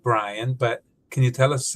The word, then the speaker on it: Bryann: Uh I know you pronounce it Brian, but can you tell us a little bit more about your name?